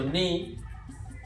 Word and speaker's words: ni: So ni, neutral, no accent on the ni, right?